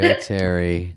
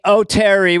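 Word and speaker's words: Oteri: Yeah, as soon as I moved to LA, people said O'Terry because why wouldn't it be pronounced that way if Sherry is E-R-I?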